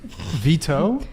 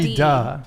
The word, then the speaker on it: Vita: Vita, right? Did I say your name right? Vita. Vito? Vita. Like Spelled not with a T, but like pronounced Oh, with a D. Vida.